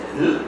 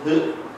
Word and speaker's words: Hurk: Or I should probably say Hurk. I think this is how Rick prefers it. And it's just spelled like that. Straightforward, Hurk. Nothing else in it, so it's written as it's said.